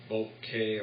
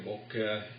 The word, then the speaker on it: bokeh: Produces good bokeh or bokeh, as depending upon your preference how to pronounce that.